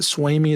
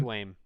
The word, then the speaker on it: Swaim: But um, it is it Swamy? Is that how you say his name? Swaim.